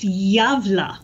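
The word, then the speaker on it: Gävle: So, as you may be aware, the gavel goat is a holiday tradition in Gavla, Sweden. YouTube says it's pronounced Javla. Javla? Anyway. Yes. Well, it's a holiday tradition in Javla, Sweden, where they erect a large straw goat.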